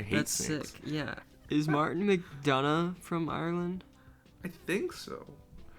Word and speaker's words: McDonagh: how to pronounce it i always read it as mcdowell but there is an n in there it's mcdonough he's an irish guy can